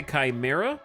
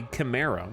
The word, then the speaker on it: chimera: path with me Chimera you can say Chimera you can also say Kima but look at a dictionary because both are accurate and you are not